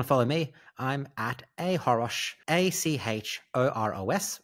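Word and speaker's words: achoros: And if you want to follow me, I'm at ahorosh, A-C-H-O-R-O-S, the C is silent, on Threads and Instagram.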